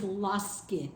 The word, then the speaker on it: ласки: In this particular case, it's laski. Got it.